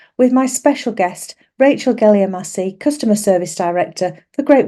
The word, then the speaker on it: Geliamassi: Great Western Railway Rachel jelassi now first and foremost have I pronounced your name right I should have checked this with you if I pronounced your surname correctly it's gelly Massi I will go with